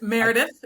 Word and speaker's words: Meredith: Meredith. Did I say it correctly? You did pretty good. It's Meredith is fine.